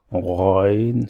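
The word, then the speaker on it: غين: You need to pronounce this letter from the bottom of your throat. Ain, Ain, Ghain.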